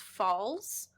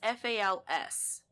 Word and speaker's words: Fowles: Well, it's funny because it could just be pronounced Falls, but it's Fals.